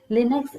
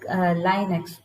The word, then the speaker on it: Linux: Linux is also pronounced like Linux. Okay, both are correct, I think. Okay, either you can pronounce it as Linux or you can pronounce it as Linux. Okay, Linux and Unix operating